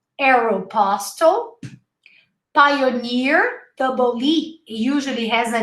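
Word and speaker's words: Aéropostale: mac mcdonald's uh aeropostale remember we learned arrow arrow pastel pioneer double usually has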